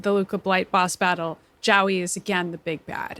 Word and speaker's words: Jowie: So I've been thinking a lot about why Jowie, I guess it's pronounced Joey, but I just can't get my brain to do that.